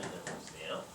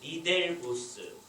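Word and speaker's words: Ridderbos: 이게 이제 이 사람의 이름이 이렇게 되어 있는데 헤르만 리더보스예요. 옛날에는 우리가 그냥 영어로 번역이 되어 있기 때문에 그냥 리델보스 이렇게 많이 했어요.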